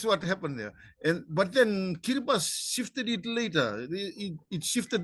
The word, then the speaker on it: Kiribati: Kiribati. I'll probably forget how to pronounce it after this show, and I'll be calling it again.